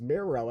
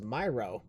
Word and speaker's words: Miro: I still can't believe I still can't believe I mispronounced Miro as Myro.